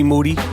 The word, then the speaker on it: Moody: man g monetti yep G Moody last name rhymes with Duty um getting hyped it's coming up for real Saturday December 10th at 300 p.m.